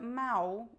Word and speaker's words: mau: So the L is pronounced exactly like the U. So the word mau, which means bad, the opposite of good, and the word mau with L sound exactly the same.